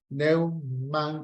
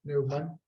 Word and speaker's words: Neumann: no me pidan acá, se escribe von Neumann con doble N al final y una sola M, Neumann. Por eso es Neumann, es una palabra de origen alemán, es von Neumann.